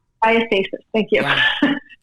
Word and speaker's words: diastasis: Diastasis. Diastasis.